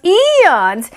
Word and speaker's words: aeons: isle has not been cleaned in aeons not aeons eons and nine tiny beasts meet to have a